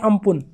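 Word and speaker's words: Amphan: इसको प्रोनाउंस करते हैं अम्पुन।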